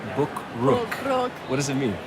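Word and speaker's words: บุกรุก: I had the hard time pronouncing Bukrook.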